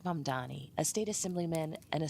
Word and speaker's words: Mamdani: and younger progressives like M Donnie, a state assemblyman and a self-described Democratic socialist. The name is M Dani. M A D A N I. You should learn how to say it.